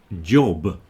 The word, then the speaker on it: job: Job is another problematic one because it also has a J at the beginning which people don't like. People often say something like y or something like that. J at the beginning and b at the end.